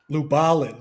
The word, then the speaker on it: Lubalin: the master is Herb Lublin or Lubilin or Lubalin or you know there's all there's all kinds of different ways to pronounce it isn't there how how would they say it in in or Christian Lubalin.